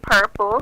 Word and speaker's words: TVRPL3: Okay, so it's actually purple, but it's spelled TVRPL3.